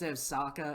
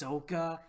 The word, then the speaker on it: Sokka: in the movie instead instead of its Osaka its Sokka I almost feel like